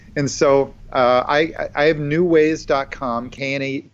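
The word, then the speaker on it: Knewways: it haha well I I have a thing called new ways it's spelled with a k KN e WWAY s new ways to evolve and it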